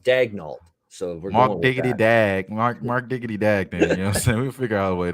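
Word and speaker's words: Daigneault: or i thought because his name is spelled like a french canadian last name daniel is how you would say it if he's french canadian but he apparently wants it mark dagnolt it said dagnault we figure out a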